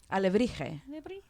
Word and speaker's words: alebrije: Alebrije. Yeah. We have talked. See, you knew how to pronounce that word.